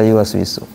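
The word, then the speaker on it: يوسوس: Gimana cara baca yu waswisu? Was was. Ah, berarti monyong tuh yu was wi su. Kalau ada orang kita namanya wiwi, gimana kalau pakai tajwud tadi tuh bacanya tuh wi siapa namanya? Wi wiwi. Gitu kan? Wiwi. Kenapa? Karena dia wau itu harus dimonyongkan. Tapi kalau orang Indonesia mah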